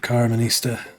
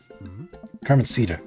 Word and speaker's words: Carmencita: Thanks for the hot squirrel tip, Carmenista. Carmencita, I believe. I've been pronouncing it wrong the whole time.